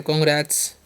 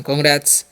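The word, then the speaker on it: congrats: रैट्स इसे बोलते हैं रैट्स रैट्स नहीं पढ़े कांग्रेट्स ठीक है ऐसे उच्चारण करना कांग्रेट्स कांग्रेट्स मतलब क्या होता है बधाई हो किसी को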